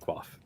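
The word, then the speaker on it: Quafe: so it's more of a quaff but it's pronounced quaff so careful with how you say that word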